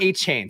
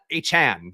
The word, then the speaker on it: Achane: no what's it so his name now is Devon a Chan so got to re recondition our brain to say his name the way he wants to be said one good game literally